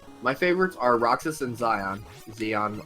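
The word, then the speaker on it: Xion: My favorites are Roxas and Zeon, however you pronounce it. I never played. I actually think it's pronounced Shion.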